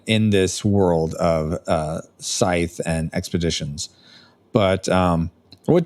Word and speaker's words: Scythe: Um, uh, he teaches us, uh, expeditions, which is, if you've ever played, uh, I know it's Scythe, but, I like to pronounce it sky, which is a stonem game.